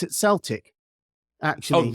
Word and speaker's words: Celtic: it's a K, and there's no way you can pronounce a K as an S.